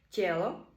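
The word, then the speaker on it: tělo: не стоїть після дтн відбувається пом'якшення читаємо це як детене і приклади деті діти тело тіло цо дещо і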